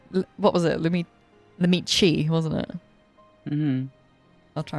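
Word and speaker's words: Lamaty'i: No, I think she's Lamatii.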